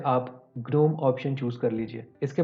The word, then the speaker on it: GNOME: कि मैं बार बार जीनोम को ग्नोम ग्नोम क्यों प्रोनाउंस कर रहा हूँ। तो दोस्तों मैं आपको क्लैरिफाई करना चाहता हूँ कि GNOME का जो प्रोनाउंसिएशन है वो ग्नोम है, जीनोम नहीं है।